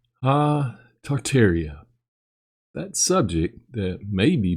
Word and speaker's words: Tartaria: the area did exist tartaria originally pronounced tataria is the name of